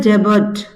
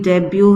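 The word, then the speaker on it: debut: प्राप्त की ह डायरेक्टोरियल डेबर्ट सॉरी डेबर्ट नहीं है ये डेब्यू है या डी साइलेंट है ठीक है ह डायरेक्टर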